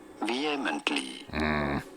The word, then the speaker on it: vehemently: Vehemently. You don't want to stress on the first syllable.